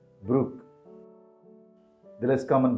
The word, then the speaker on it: Brooke: ways of pronouncing this name the most common pronunciation is Brook Brook the less common pronunciation is BR bro it's